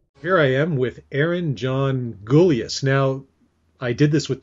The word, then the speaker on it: Gulyas: So I'm just going to make sure that is it Gulyas?